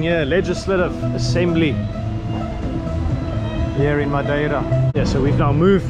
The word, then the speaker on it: Madeira: Some pronounce the I as silent, Madeira.